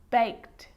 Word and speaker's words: baked: But a lot of the time, that E isn't pronounced. Looked, asked, played, baked, wrapped.